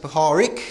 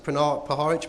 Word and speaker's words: Puharich: Some people pronounce it Puharich, some people pronounce it Puharich.